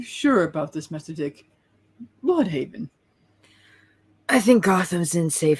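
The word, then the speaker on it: Blüdhaven: all AB board to blood Haven not Blue Haven we're not German I sure he wishes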